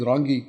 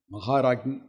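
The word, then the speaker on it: Maharajni: Maharagni means, some people pronounce it wrongly as Rangi. It is not Rangi, it is Ragi. Maharagni.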